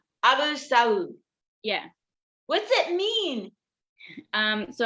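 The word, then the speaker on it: Abu Alsaoud: Is it Abu Al-Saud? No, the AL is silent. So Abu Saud. Abu Saud.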